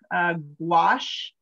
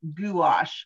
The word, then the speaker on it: gouache: I say it like this, gouache, but you might hear other people say it gouache, which to me sounds like goulash.